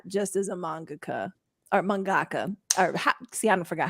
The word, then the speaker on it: mangaka: Since we would you ever do commissions as an artist, not just as a mangaka or mangaka? Or I forgot how You to said it pronounce right the first time.